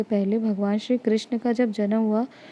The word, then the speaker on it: कृष्ण: जैसे जैसे मैंने बताया कि कृष्ण को कृष्णा कर दिया, तो ये जो है